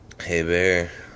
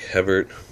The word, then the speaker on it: Hebert: Hebert. Even though it's spelled like Hebert. Used the French-Canadian version of it.